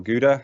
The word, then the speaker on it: Gouda: in the Dutch countryside, not far from Gouda or Gouda, as if you're not Dutch, you might pronounce it.